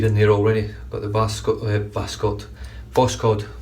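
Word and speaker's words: Voskhod: I'm going to go with Voscod because I could only find one Vascot, which was the one I found a while back, but Voscod appears to be the way it's pronounced, so I'm going to go with that.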